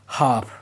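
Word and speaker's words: half: अगर एल ए ओ यू के बाद आए तो एल साइलेंट रहता है। Example हाफ almond walk काफ should इन सब में आप देखोगे ए ओ यू के बाद एल आया है। इसीलिए एल साइलेंट है।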